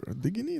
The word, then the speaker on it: Diguiny: Is it Diguiny? Am I saying it correctly? Yes. How do you pronounce it? Diguiny, that's it. Diguiny, that's good.